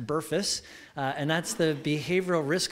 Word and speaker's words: BRFSS: this survey that's called BRFSS and it's not pronounced barfs it's pronounced Burress and that's the behavioral risk factor surveillance survey